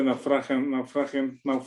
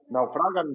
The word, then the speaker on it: naufragan: Entonces, estas 276 personas finalmente comieron satisfechos y finalmente naufragian, ¿cómo se dice? Naufragian. Parece un naufragio. Naufragan, ¿no? Naufragan, ¿verdad? Sí.